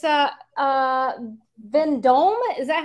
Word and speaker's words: Vendome: is a nice piece yes it's uh uh then dome is that how you say it the yeah it's a vendome piece yeah then dome is very well known